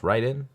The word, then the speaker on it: Raiden: you've heard of it I grew up saying Raiden and I and I think because of Mortal Kombat they say Raiden but I think it's supposed to be pronounced Ryden uh you know it's